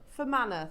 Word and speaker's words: Fermanagh: We've got Carolyn, Hillary in County, I can't pronounce that, County Fermanagh. for Manor, thank you.